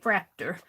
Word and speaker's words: Fraktur: or something like that i make it rhyme with tractor and say fracta i tried to listen